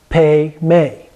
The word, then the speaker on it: Padma: Padma okay so it's pas ma but it's pronounced pay me pay me and free is pronounced either free